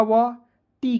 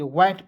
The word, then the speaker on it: wait: बहुत सारे से दोस्त है AI का उच्चारण आई के रूप में करेंगे, वैट पढ़ लेंगे। वैट यदि आप पढ़ रहे हैं तो बिल्कुल आप गलत हैं, लेकिन यदि आप इसे वेट पढ़ते हैं, वेट, तो आप बिल्कुल सही।